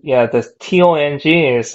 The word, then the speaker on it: tong: This T-O-N-G in Indonesian, that means poo.